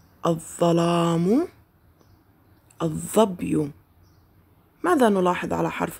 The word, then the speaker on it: الظلام: أحسنتم، إنها لام شمسية، تكتب ولا تلفظ. لاحظوا الكلمات مرة أخرى، الظرف لم نلفظ اللام، الظلام لم نلفظ اللام، الظبي لم نلفظ اللام.